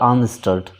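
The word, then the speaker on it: Arndt–Eistert: जाता है आर्नट स्टर्ट, इसको पढ़ा जाता है आर्न स्टर्ट।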